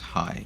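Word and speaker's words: Jai: J-A-I is pronounced Hai, if I'm correct.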